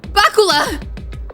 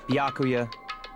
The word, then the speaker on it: Byakuya: Bakula! Huh? It's Byakuya. Oh, Byakuya. Man, I've been saying it wrong.